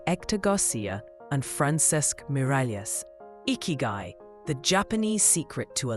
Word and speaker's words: Ikigai: At its heart is the captivating concept of icky, pronounced ikyu.